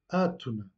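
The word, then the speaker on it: átona: Et dans des syllabes inaccentuées, on dit que la voyelle est atone ou en portugais atuna. On accentue le A puisque l'accent se trouve sur le premier A.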